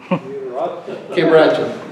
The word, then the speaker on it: quebracho: Quebracho. You got to roll your R's.